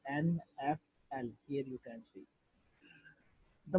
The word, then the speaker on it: NFL: But the difference is that unlike acronyms, however, initialisms are pronounced as a series of letters like NFL.